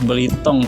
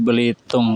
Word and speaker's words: Belitung: belum tahu Belitung itu oleh penduduk lokal disebut belitong teman-teman ya makanya kita sering dengar berhitung dan belitong dan itu sebenarnya berasal dari nama sebuah logam yang disebut biliton biliton ini kemudian berubah ya pelafalannya disesuaikan dengan penduduk lokal menjadi Belitung teman-teman setelah sampai kita langsung